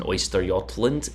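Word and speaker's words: Östergötland: you would have noticed that there was an Oysterjotland in the cap there. Yes, that is how you pronounce that ship.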